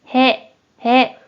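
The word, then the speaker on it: 屁: 먼저 뜻으로는 へ、へ、 라고 짧게 발음해주고 한편 음으로는 발음이 존재하지 않아요.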